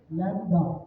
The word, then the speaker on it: lambda: लैम्डा function, LAMBDA, लैम्डा, B silent.